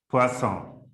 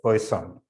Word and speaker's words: Poisson: to be pronounced as poisson all right but we usually anglicize it and say it as poison so yeah that's how